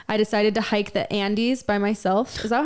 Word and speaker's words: Andes: One summer, I decided to hike the Andes by myself. Is that how you say it? Andes, yeah.